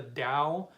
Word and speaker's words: Tao: so the they call they pronounce it the Dao but it's spelled the Tau um you know there's another really good book uh called the Dao of poo so it's the then t-a-o and